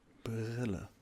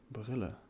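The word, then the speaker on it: Brille: uh Billa b r i l l e Billa it's a bit difficult to pronounce at the beginning I believe and this is how you spell it brilla that that was good actually Billa yeah pretty good pretty good you a very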